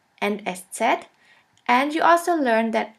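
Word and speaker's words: ß: which looks like this we call it s set s set or sha s sha s which means a sharp s this letter is pronounced like the double s in the word kiss and always remember this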